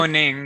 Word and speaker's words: Mahoning: Mahoning, yeah.